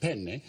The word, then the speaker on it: penne: Well, I mean, you know, penne, pasta. In Italian, it's very important that you pronounce a double consonant. There are two N's in the word. So you say it, how do you say it? Penne.